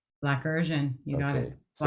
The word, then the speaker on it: Blackersian: and then pronounce it Blackersian. Blackersian, you got it.